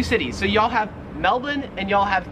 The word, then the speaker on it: Melbourne: it wouldn't matter because the australian accent just leaves the r off if it's ever in the last syllable of a word so you would pronounce melbourne melvin and you'd pronounce carrick